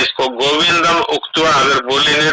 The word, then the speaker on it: गोविन्दं: गोविंदम नहीं बोलना है। गोविंद, हाँ, गोविंद मुक्त तुष्ण बबुआ। वैसे आपका उच्चारण अच्छा है,